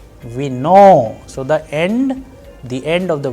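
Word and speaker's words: вино: And in case of vino, it is again on o and it is being pronounced as vino.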